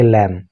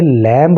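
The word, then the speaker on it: lamb: Similarly, ठीक उसी तरह से he tried to butcher A लैम। देखिए, ये लैम्ब नहीं पढ़ा जाता है, इसकी स्पेलिंग में बी बाद में होता है, लेकिन इसको पढ़ते हैं लैम।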